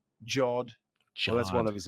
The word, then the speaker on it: Jod: First, I was trying to figure out how to pronounce his last name, but it's Jod.